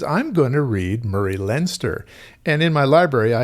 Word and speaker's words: Leinster: Leinster, and yes, Leinster is the pronunciation according to the SF Encyclopedia. This book I had been planning to read this month, went to the side because I'm going to read Murray Leinster.